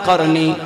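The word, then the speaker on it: قرني: আমার নবী এখানে যে করনি শব্দটা বলেছেন কেন বলেছেন কফ র নুন ইয়া চারটি অক্ষর আমার নবী বললেন কফ র নুন ইয়া যেটার উচ্চারণ হয় করনি এই করনি মানেটা কি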